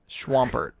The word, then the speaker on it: Swampert: evolves into marsh stomp but then it's swampert because it's pronounced swamp schwamp all right so then